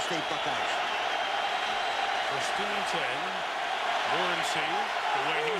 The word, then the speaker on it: Morency: Morency, the way he said he wants it pronounced, alone in the backfield.